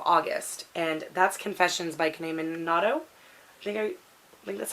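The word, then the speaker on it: Kanae Minato: very beginning of August, and that's Confessions by Kane Minato. I think that's how you pronounce her name.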